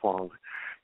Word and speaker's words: Huang: name hang right yes hang it's like w n g with an H in front of it right you know